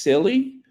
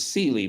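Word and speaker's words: Scilly: Sealy silly is pronounced silly the Isle of silly okay that's the Isle of silly thank you I thought it was Sealy but it's silly okay the Isle of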